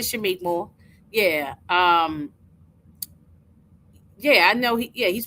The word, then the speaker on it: Shameik Moore: Yeah, I said Shameik Moore.